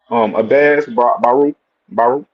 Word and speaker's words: Abass Baraou: Now, how you pronounce his name again? With the B? Abass Baraou.